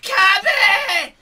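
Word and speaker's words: Cabba: comes Lord and Savior Kaba, or as he's now pronounced after the old epic yell from Champa, Kabe!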